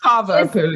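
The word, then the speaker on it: Cavapoo: I think Vivian the Kavapoo, is that how you say it? Kavapoo, yes.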